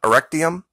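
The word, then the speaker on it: Erechtheum: This is, I want to pronounce this right, E-R-E-C-H-T-H-E-U-M, Erectium.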